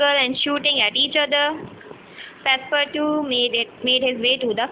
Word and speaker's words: Passepartout: Okay, so Passepartout is a French word, and it is pronounced like Passepartout. Passepartout.